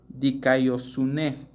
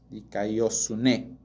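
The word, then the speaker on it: δικαιοσύνη: en Mateo 5:6 es una palabra que se pronuncia dikaiosune dikaiosune dicoo significa inocente inocente sin culpabilidad entonces dikaiosune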